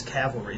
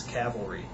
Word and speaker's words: cavalry: It's like, "No, you're changing the word. It's not a matter of how you it's not tomato tomato. It's it's it's uh it's it's cavalry.